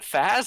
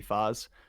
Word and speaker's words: Faz: It's so if you want to go off of the pronunciation of the last name, it's DeFazio, so it would be Foz.